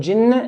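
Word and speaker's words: الجنّة: Hold the noon in the word jinnah and nas. Min al-jinn. Hold it and the word an-nas.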